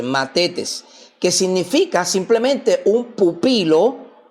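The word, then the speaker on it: μαθητής: Se escribe m a t h e t e s. Matetes, que significa simplemente un pupilo o un alumno.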